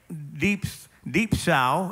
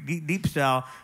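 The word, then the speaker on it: διψῶ: And the word is deep sow is the how they pronounce it in Greek, deep sow, meaning I am thirsty.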